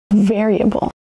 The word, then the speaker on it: variable: Variable. Variable has four syllables. Variable. Emphasis on the first syllable.